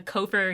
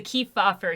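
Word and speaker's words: Kefauver: them in every video i've called them the kopher hearings it's the key fob for hearings okay and all i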